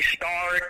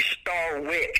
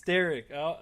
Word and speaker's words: Starrick: I've had worse people called me Starrick, the German pronunciation, and some of them call me Starwick. And I'm like, this ain't Spiderwick Chronicles, dude. It's Starrick.